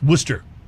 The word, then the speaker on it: Worcester: outside of Boston that spelled Worchester but it's pronounced Worcester but then there's a suburb of Boston called